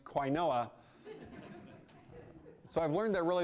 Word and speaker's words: quinoa: Anyway, fortunately, the joke about quinoa is a meta joke, so you don't actually have to know what quinoa is to get the joke.